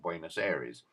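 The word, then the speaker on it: Buenos Aires: street in bua uh this pronunciation varies some people call it buenus Aries A Bank in Rio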